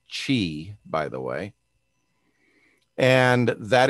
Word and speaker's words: Qi: wireless charge they use qi 2.0 which is pronounced chi by the way and that is the charging